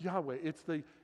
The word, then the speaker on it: Yahweh: We add vowels to try to pronounce it. But it's this incredible name of the presence of God, Yahweh, from which we change it to get Jehovah. But it's Yahweh.